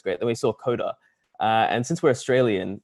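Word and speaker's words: Codugh: since we're australian uh it's c-o-d-u-g-h it's pronounced the same for us coda as c-o-d-e-r coder right so we're like oh this is great you know it's applicable it's uh it relates uh what we didn't account for is that the rest of the world does doesn't pronounce it like that so so everyone gets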